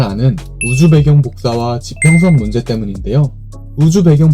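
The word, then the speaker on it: 輻射: 먼저 우주 배경 복사란 우주의 배경을 이룰 만큼 우주를 꽉 채우고 있는 복사열 혹은 복사 에너지를 일컫는 말입니다. 복사라는 것은 무엇의 사본을 만드는 복사가 아니고 한자로는 폭사라고 쓰고 복사라고 읽습니다.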